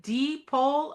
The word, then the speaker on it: Depole: I say I say there's the North Pole, there's the South Pole, but there's only one deep pole of design.